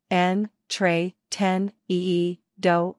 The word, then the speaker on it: entretenido: Pronunciation, en, tre, ten, ee, do, or en, tre, ten, ee, da.